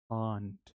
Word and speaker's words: aren't: आर को pronounce नहीं करेंगे, आर इसमें साइलेंट है। दोबारा से, आर इसमें साइलेंट है, आर को हम प्रोनाउंस नहीं करते, ठीक है।